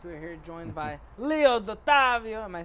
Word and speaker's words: Dottovio: We're here joined by Leo Dottavio.